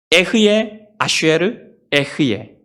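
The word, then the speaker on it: אהיה אשר אהיה: 히브리어 발음은 에흐예 아쉐르 에흐예입니다. 에흐예 아쉐르 에흐예.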